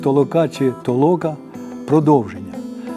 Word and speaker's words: толока: може і не здатися через неправильний наголос закликав режисера шановного Михайла ілнка говорити бодай про подвійний наголос що відповідатиме суті його фільму толока толока тобто витолочення руїна І відбудова